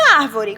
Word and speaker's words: árvore: E árvore, qual a sílaba tônica? Ah, tia, é essa porque está acentuada e você disse que quando tiver um acento é porque é a sílaba tônica. Isso. Árvore, a sílaba tônica é o ar.